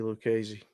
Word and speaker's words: Lucchesi: name do we know I say look easy okay who wins here